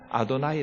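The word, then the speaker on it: אֲדֹנָי: 쓴 단어는 아더 나이라고 일부러 이스라엘 사람들은 아도나이 라고 읽어요 삼경을 아도나이 라는 단어는 주님 이란 뜻인데 저 이름 에서는 나올 수 없는 발음 이에요 이스라엘 사람들이 원래 하나님의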